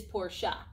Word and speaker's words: Porsche: porsche it doesn't really matter the kernel correct pronunciation is porsha so let's go all the way back to